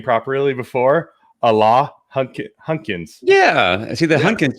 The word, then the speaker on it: Alain Hunkins: We've been practicing how to pronounce his name properly before. Alain Hunkins.